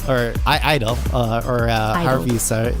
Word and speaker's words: (G)I-DLE: sohyeon in minion of G Idol or I idol or Harvey so it said in Korean I know the G is silent ie they yeah there